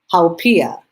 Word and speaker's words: haupia: So it's pronounced haupia.